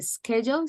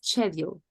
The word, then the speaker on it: schedule: and practice and Sylvia the pronunciation of schedule you said like a schedule something like that but it's schedule okay okay and the